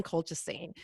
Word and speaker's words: colchicine: It's colchicine. Oh, was it? Okay. I felt like I added an extra syllable in there.